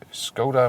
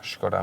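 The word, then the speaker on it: Škoda: go back to the skoda menu or shkoda menu just got the original czech pronunciation sometimes people think hey why are uh pronouncing each koda it's wrong no it's right then exterior here you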